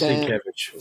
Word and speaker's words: Sienkiewicz: You mispronunciate Nate. It is Sienkiewicz.